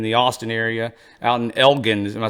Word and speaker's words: Elgin: House here in the Austin area, out in Elgin. Am I saying it right? Elgin, I'm yes.